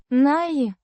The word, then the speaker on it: Не: Pronounced. Nye.